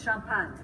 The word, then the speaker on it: Champagne: she was from Champaign she pronounced it the American Way it's Shum punt and all you see